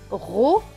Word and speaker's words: rose: est décrit en veut donc il ne se prononcent pas ce monde va dans ce lire rose et rose et là un rosé très bien